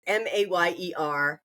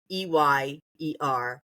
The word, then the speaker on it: Mayer: But it's Mayer. It is not Meyer. But there is controversy over it.